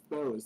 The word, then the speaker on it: BOZ: But I was getting a kick out of the BOZ because it was being pronounced like Bose, BOSE, which is a company that makes speakers. Yeah, I caught on to that when I was looking at it.